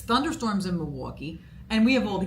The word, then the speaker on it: Milwaukee: Milwaukee Milwaukee how do you say it it's Milwaukee Milwaukee so I well almost you know there